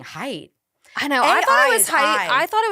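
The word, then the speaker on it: Haidt: thought it was height I thought it was height but I think it's hate I think he pronounces it hate how do you we need to fact check that we need to fact check that but I'm pretty sure it's hate anyway he wrote anxious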